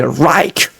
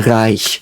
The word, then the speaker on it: Reich: I do think, like, many people say Reich, the German Reich. You know, that's what people say, but that's not how it's pronounced. No one would say that. It's like the German Reich, like very soft.